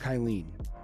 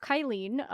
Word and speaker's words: Kylene: So Kylene it's not like a bad name, but for me, it's actually full of very common syllables. Kylie is a more common name, and E is kind of een and is very, very